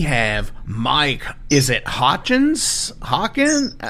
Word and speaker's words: Hochins: Hawkins? How do you say it? No, you had it right, Hochins, yeah.